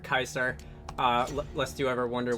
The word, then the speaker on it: Caesar: those who don't know the letter c was not pronounced sometimes as s in um in in like ancient Roman so words like Caesar Kaiser uh lest you ever